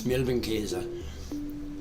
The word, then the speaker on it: Milbenkäse: Käse, K-A, S with the umlaut or whatever. No, it's the A with the umlaut. But it's hard to pronounce in English, and I'm not doing well, but it's Milbenkäse, mite cheese.